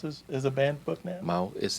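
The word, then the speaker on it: Maus: Mouse. That's how it's pronounced.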